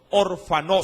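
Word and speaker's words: ὀρφανός: hablando del término huérfano orfanó si con un acento en la última es y en la o en la última o urbanos ese término orfanó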